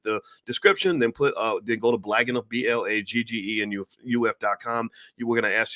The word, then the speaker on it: Blaggenuf: It's called Blag Enough, and that's spelled on the screen.